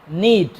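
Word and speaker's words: knead: দেখে নেই ভার্বটা হচ্ছে নিড এটা কে দিয়ে শুরু হয়েছে কে টা silent K এন ইডি নিড নিড মানে হচ্ছে আটা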